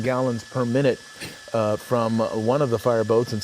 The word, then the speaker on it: ONE: I'm told that a uh someone familiar with Matters Maritime and this particular uh um company says it's pronounced O ne, not one.